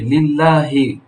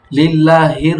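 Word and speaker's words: لِلَّهِ: এখানে দেখো এইযে লিল্লাহি লিল্লাহির হয়ে যায় তোমার। লিল্লাহির রাব্বিল আলামিন। এভাবে না হবে না।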